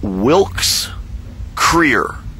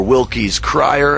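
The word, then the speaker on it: Wilkes-Krier: last name and uh my last name is wilk's Creer or wilky's crier as it sometimes is pronounced when my mom and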